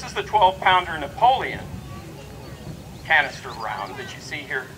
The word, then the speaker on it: canister: this round of ammunition that word actually rhymes with its name this is called canister canister and what you